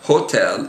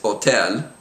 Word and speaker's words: hotel: examples right here um it's not Hotel it's Hotel it's not hospital it's